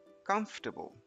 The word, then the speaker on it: comfortable: First up, we have this word which is pronounced as comfortable. Comfortable.